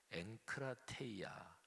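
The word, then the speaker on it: ἐγκράτεια: 지식에 절제를 할 때요 절제는 헬라어로 발음하면 엘크 라테 이 아 이렇게 발음되는 단어입니다 근데요 단어는 어 절제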